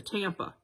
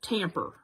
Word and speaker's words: Tampa: that pronounce things differently my dad always put a er on the end of his like we lived in florida and we were close to tampa well he called it tamper so uh i don't